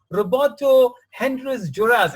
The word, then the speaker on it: Roberto Hernández Juárez: a first friend all the way from Mexico, Roberto Hernández Juárez. Is that right? Am I pronouncing your name right, Roberto?